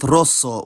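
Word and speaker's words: rosso: geminated like in Kaza compare this with Roso where the S is geminated and therefore still voiceless s also becomes Z before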